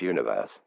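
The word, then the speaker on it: ONEWE: day the boy group one verse pronounced universe is the first group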